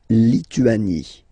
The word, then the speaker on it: Lituanie: La Lituanie. Remember in French, sorry, H doesn't exist, okay, so you don't pronounce it, and it's Lituanie, Lituanie.